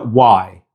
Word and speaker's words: y: Now it's just written using the letter Y, but the pronunciation in Spanish is y.